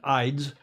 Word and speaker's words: Ides: Ides, not eyes.